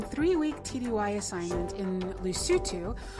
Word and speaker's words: Lesotho: week tdy assignment in lucitu which i always want to say lesotho because that's what it looks like and i'm from the south but you pronounce it lucio too and it's its very